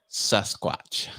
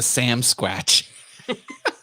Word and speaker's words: Sasquatch: Sasquatch. Yep. Or as they say on Trailer Park Boys, the Sam Squatch. They mispronounce it on that show.